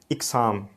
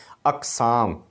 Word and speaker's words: اقسام: غلط، قیام، قیام گاہ۔ اچھا اقسام بول دیتے ہیں لفظ، اقسام، اقسام نہیں ہے، الف کے نیچے زیر نہیں ہے بلکہ زبر ہے، اقسام۔ اسی طرح متاثر، اس